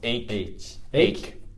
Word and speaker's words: ache: So try saying this is ache. This is like K sound.